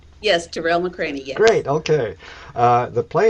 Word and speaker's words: Tarell McCraney: plays by MacArthur fellow Terell mccraine did I pronounce his name right yes terel mccraine great okay uh the play is running February